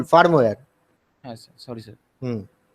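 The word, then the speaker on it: firmware: Femur sir ওটা actually ফিরমার ওটা ফিরমার মানে মানে স্যার যেটা মানে হাই লেভেল সফটওয়্যার, সেটা আমি বুঝতে পারছি, কিন্তু তোমার প্রোনাউন্সিয়েশন ভুল, তোমার প্রোনাউন্সিয়েশনটা ভুল, ফার্মওয়্যার।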